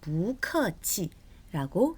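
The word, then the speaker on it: 不客气: 원래는 사성인데 아까도 말씀드렸지만 뒤에 자, 아니 불자 뿌라는 이 단어 뒤에 사성의 단어가 올 때는 이 뿌가 이성으로 변한다라고 했어요. 그래서 발음이 부커치라고 됩니다.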